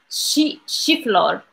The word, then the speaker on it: الشيفلور: So, yes, chiflor. Chiflor.